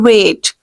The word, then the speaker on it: weight: need to reduce your weight or you can simply say reduce your weight okay you need to reduce your weight you need to reduce your weight here g is silent you will pronounce the